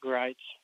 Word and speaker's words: Greitz: It's Brandon Greitz. Is that correct, Brandon? Yeah, it's Greitz. Greitz. See, I've been saying it wrong for however long we've had you in the series, and now I got it right.